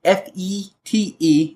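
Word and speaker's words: fête: I will mention that this route word comes from the French spelled the same way pronounced fete oh cool yeah well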